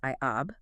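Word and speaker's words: Ἰαβέ: Theodore wrote that the Samaritans pronounced the divine name as Iab. They were attempting to render all four letters of the tetetrogrammaton yad hey wahhei into four Greek letters which would be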